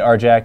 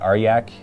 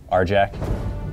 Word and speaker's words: Arjac: and I say it R Jack and not AR Yak because um typically you do say the J's is y's but apparently after an R it's uh pronounced with a hard J so that's just how